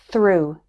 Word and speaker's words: through: word Koff and finally it's pronounced like ooh in the word through error number 164 EI